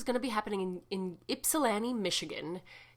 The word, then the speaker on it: Ypsilanti: to be happening in Ypsilanti, Michigan. Ypsilanti, it's with a Y, by the way, if you don't know how to pronounce it, it's Ypsilanti.